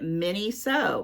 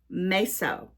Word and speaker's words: Miniso: And when I Googled it and the pronunciation, it sounds nothing like my English interpretation. It's Meso.